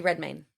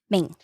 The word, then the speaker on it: Redmayne: How do you say his last name? Eddie Redmayne. Maine.